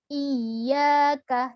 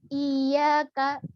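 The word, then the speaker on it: إياك: Iyakah dan diberi tekanan jangan sampai penekanannya kurang kalau penekanannya kurang adalah Iya Kak Iya Kak itu kesannya kakinya panjang padahal isinya pendek dan ianya bertasydid maka cara pengucapannya adalah iyakah iyakah tertipu ya ampuh diperhatikan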